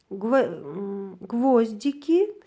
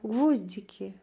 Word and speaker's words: гвоздики: Гвоздики биринчи ого түшүп атса, бул гвоздь, майда мыктар, гвоздики деп ошол гвозддун көптүк түрү экен. Эгерде гвоздики десек, дики могул жерде биринчи и тамгасына түшсө ударение, анда бул гвоздика деген гүлдүн көптүк саны экен.